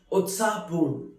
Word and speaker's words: उत्साहपूर्ण: Utsahpoon, which is pronounced as Utsahpoon, which means very excited, very lively.